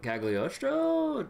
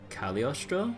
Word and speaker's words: Cagliostro: Technically not supposed to pronounce the G. Really? Huh. I am fire. I am a blade. I am fire. I am a vortex. So it's supposed to be just Cagliostro or something?